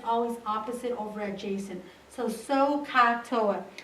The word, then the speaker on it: SOHCAHTOA: for tangent it's always opposite over adjacent so sohcahtoa it's important that you pronounce it correctly because if you pronounce it sako toa then you might think it's adjacent hypotenuse instead